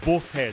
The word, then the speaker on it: boofhead: And the word this week is boofhead. It's spelled B-O-O-F-H-E-A-D.